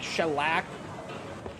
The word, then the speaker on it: Shellac: It's like shellac. That's how it's spelled. Shellac.